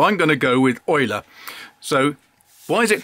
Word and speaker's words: Eule: she says it's pronounced yuli yuli except it is a german word for owl that means it's actually pronounced euler so as far as